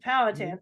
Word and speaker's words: Powhatan: Good, Mhm, Powhatan.